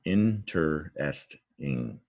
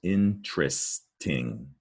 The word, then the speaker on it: interesting: four-syllable word intersection interesting interesting another four syllable word interesting listen to it though because a lot of people pronounce it with three syllables interesting but it's interesting in